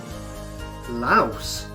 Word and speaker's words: Laos: In English, the S in Laos is pronounced and not silent, as the name, originally